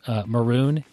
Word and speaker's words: Marune: So I found a new thing, and I've got several of the listeners that have connected with me on this app called Maroon. It's spelled Marune, and it's an app that's designed to track your jiu-jitsu training and competitions.